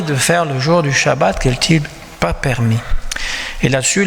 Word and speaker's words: Shabbat: Des fois on prononce Sabbat, mais comme en hébreu on dit Shabbat, je le prononce en hébreu.